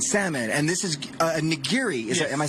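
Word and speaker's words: nigiri: and salmon and salmon and this is a ngiri is am I saying it right yes niri and what show us how it's done okay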